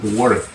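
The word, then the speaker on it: worked: Pero se pronuncia work. Una T seca al final. Ese ed se convierte en una pronunciación como si fuese una T.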